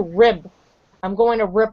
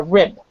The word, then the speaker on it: rip: They don't pronounce the P. They say it like with B. Rip. I'm gonna rib. It sounds like the rib from your chest.